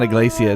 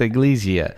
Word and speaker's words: iglesia: don't do that again it's not a Glacia it's AG Lisieux AG Lygia okay okay well if